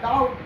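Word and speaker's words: doubt: इसमें डॉट है तो डॉट नहीं होता, डाउट होता है, डाउट, डाउट। क्योंकि ओ और यू को हम लोग आऊ पढ़ते हैं।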